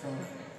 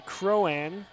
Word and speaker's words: Cronin: The Griffins, number 9, Riley Cronin. As it's actually pronounced Riley Crowan, who sends it to the other side.